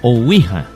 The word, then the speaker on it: Ouija: O sea, Ouija se escribe O-U-I-J-A. Ouija. Ouija. Se lee Ouija.